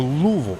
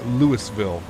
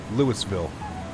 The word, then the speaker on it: Louisville: clicks uh blurted out uh lewisville uh that's not how you say it uh oh louisville louiseville oh boy we're gonna